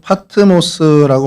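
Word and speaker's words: Πάτμος: 그리스어로 파트모스라고 발음을 하고요.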